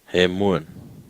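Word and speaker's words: ἡμῶν: And then there is a mi, there's an omega, and then there's a nun. So now try and pronounce that one. He. Hemuan. Do you agree? Ha. He. M. Omega N. Hemuan.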